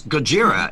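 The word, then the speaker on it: Gojira: name be pronounced no actually actually it's gajira if you really want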